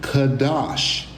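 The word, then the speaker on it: חָדַשׁ: Actually, it's pronounced as a verbal root, Kadash.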